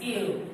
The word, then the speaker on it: ils: This is il and this is il. Let's put our slash again. Here we have L, but with S. This is L, this is L. It's pronounced the same way because this S here is silent.